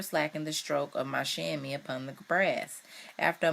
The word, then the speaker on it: chamois: Chamois. Chamois. It's spelled Chamois. Chamois. An agile goat antelope with short hooked horns.